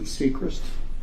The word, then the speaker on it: Seacrist: to the jury tell them your name and spell it for the court reporter my name is seacrest s e s-e-a-c-r-i-s-t and how are you employed